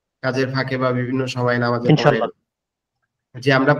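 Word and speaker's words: باء: লেগে হালকা বাতাস বের হবে। আলিফ আলিফ আলিফ আলিফ এরপরে আমাদের দুই ঠোটের নরম জায়গা। দুই ঠোটের নরম জায়গা একসাথে লেগে উচ্চারণ হবে। বা বা বা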